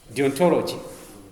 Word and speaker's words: deontology: y how do you write how do you pronounce that yes deontology so they are you're right this means this